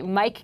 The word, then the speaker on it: Myq: In fact, our guest today, Mike Kaplan, is very good at giving us reasons to do so. And by the way, that's Mike, M-Y-Q, Mike.